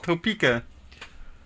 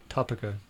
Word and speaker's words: Topeka: It's Topeka. It's pronounced Topica.